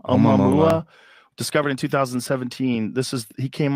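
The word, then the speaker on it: ʻOumuamua: Oumuamua, I think. Oh, Oumuamua. Oumuamua.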